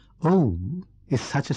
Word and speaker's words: Om: The first letter, A, is the root sound, the key, pronounced without touching any part of the tongue or palate. M represents the last sound in the series being produced by the closed lips. And the U rolls from the very root to the